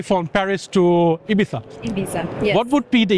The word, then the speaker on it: Ibiza: Ibiza is between the tongue the the tongue between the teeth if someone doesn't fly from Madrid to uh Dubai but say from Paris to Ibiza Ibiza what would be